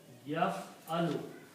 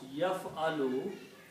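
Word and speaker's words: يفعل: ya in the beginning, and these three letters pronounced like that, yaf-alu, we put a ya in the beginning, and pronounce yaf-alu.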